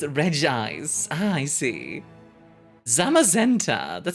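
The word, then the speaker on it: Regice: Regise? Regise? Regise. Regise. Hill? Oh. I should know this one. I should know this one because this is from the generation that I still played. pronounced Reg Eyes.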